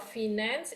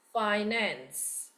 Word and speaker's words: finance: Instead of finance, it's finance.